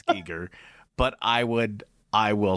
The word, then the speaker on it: Giger: no but it's it's Giger because it's Swiss and that's how they pronounce it but I feel like